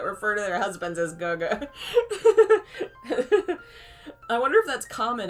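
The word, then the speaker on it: 哥哥: I've heard it's pronounced Guga.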